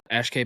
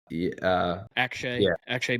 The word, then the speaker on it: Akshay: The Bhatia, Ashkay Bhatia. Oh, Akshay Bhatia, Minwoo, or whatever.